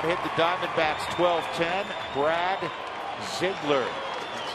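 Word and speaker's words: Ziegler: Rockies have out hit the Diamondbacks 1210 Brad Ziggler that's how you pronounce his name Ziggler is on for the 72nd time submarining right-hander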